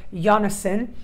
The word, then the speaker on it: Janison: saw on my channel, or Janison, as she taught me how to say her name.